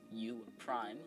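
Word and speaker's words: U′: and then an apostrophe this apostrophe is pronounced Prime so again for example the capital letter U then an apostrophe is U Prime which means turn the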